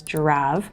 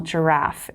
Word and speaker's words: Jirav: name of that software is Gira and although it sounds like the animal and you might even see my new little friend up here in the corner of my my little bookshelf it's not spelled like the animal giraffe it's spelled j i r a v you can call it